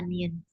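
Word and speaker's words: 니은: Kebanyakan kalau pas belajar itu kebalik antara giok sama nien biasanya kayak gitu. Oke, ditulis lagi, dihafalkan lagi. Ini hurufnya nien. Nien. Nien. Nien atau na. Nah, nien pengucapannya n ni.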